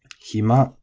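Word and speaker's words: 暇: And then hima is flat, which, seems to be relatively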